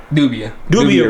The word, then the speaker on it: Dubia: I mean, there are things that I would thought we got these giant Dubai roaches, right? Is that how you say it? Dubia roaches. Dubia roaches.